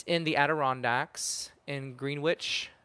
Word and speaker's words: Greenwich: It's in the Aderondax in Green Witch, not Greenwich as I learned there because there's Greenwich, Connecticut.